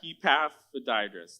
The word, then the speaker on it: Epaphroditus: I watched a YouTube clip how to say his name, Epaphroditus.